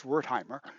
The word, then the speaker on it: Wertheimer: even more whole now Max their time is how you pronounce that in German we'd say Max wertheimer a study thinking learning and